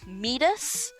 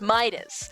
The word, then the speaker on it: Midas: how uh even though a lot of people have been pronouncing my name um midus it's Midas like yes you can